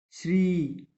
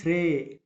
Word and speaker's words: Sri: we observe it properly we can pronounce this writing as follows: Sri, Shri. It could be also pronounced as Shrey because E we use for A, pep, pet, pen, like that and all.